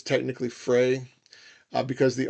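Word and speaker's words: Freyr: And I do pronounce his name as Frra, but it's technically Frey.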